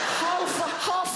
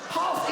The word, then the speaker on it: half: Half a hour. Half, even half has an L in it.